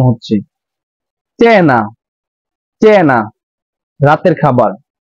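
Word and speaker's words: cena: যেরকম চিব চিব এখানে চি এর পরে ই আছে তার জন্য চি এর উচ্চারণ এখানে চর মত উচ্চারণ হচ্ছে চেনা চেনা রাতের খাবার তো চি এর সাথে এ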